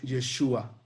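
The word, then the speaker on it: ישוע: Vean así como se escribe en hebreo y se pronuncia Yeshua, que viene también de Yahvé, que significa Salvador.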